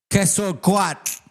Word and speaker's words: Quetzalcoatl: Quetzalcoatl. You can't even fucking say it right, you stupid fucking cracker barrel. You dumbass white boy. Quetzalcoatl.